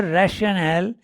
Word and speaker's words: rationale: there is no further rationale or rationale. How do you pronounce it? How do you pronounce the word? Rationale, yeah. Rationale. Because there is an E at the end.